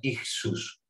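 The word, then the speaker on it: ἰχθύς: Nos dice este ictis, que es una palabra griega, como veis, se pronuncia ixus, que es de donde nos viene el término a nosotros.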